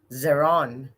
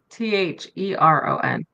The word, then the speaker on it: Theron: Oh my, what How do you world do you spell it? live in? Charlize Yeah. Zeron. Zeron. Have you watched the movie Monster? Oh, there it is. Wait, it's Theron.